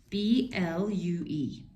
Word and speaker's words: blue: There are two vowels next to each other. So the second vowel is silent and the first vowel says it's long sound. So what's the long sound of U? It's just U.